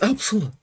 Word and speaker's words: Upsilon: Pretty sure now it's pronounced Epsilon, but sure. It's a U. Epsilon is a completely different word. Epsilon. Yeah, it's Upsilon.